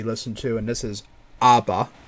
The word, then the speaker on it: ABBA: to and this is Aba or Abba but it's pronounced ABA I think with the song danc